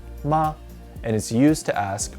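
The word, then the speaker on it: 妈: talking about a woman this character means mother and is pronounced ma it is used in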